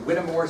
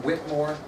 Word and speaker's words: Whittemore: crazy Samuel Whittemore yeah some people pronounce it Whittemore some Whitmore okay that's right though